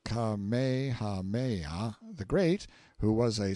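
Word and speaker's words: Kamehameha: When Kamehahha, pronounced Kamehaha the Great, who was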